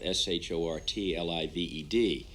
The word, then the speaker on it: short-lived: the other day uh s-h-o-r-t-l-i-v-e-d and uh i said it was short-lived and it's a short lived and so i should